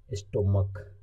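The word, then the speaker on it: stomach: सी एच रहेगा और अगर उसका उच्चारण क आएगा तो लगेगा खाली एस, स्टोमक, इसे स्टोमक पढ़ते हैं, इसलिए केवल एस लगा है।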